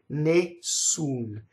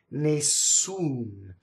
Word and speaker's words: Nessun: in this first word is a double s so Nate soon Maysoon you in Italian as always ooh it's never anything else so who was an